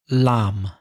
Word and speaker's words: lamb: Lamb.